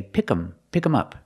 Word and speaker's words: pick them up: And sometimes you'll hear Americans say, pick 'em up. And they don't pronounce the TH sound.